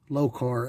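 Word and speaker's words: Lokar: it's that low carb low carb l-o-k-a-r i think that's the way to pronounce it flexible dipstick tubes that's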